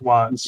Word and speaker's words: watts: It's pronounced watts.